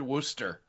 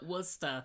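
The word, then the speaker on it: Worcester: Just I just want to hear her say the word worooster. She won't because she'll call it Wora.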